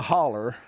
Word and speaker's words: holler: We had to go down into a hollow, the holler, Yeah. to say it correctly.